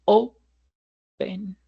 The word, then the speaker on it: open: O la palabra open no es open, sino open. Open.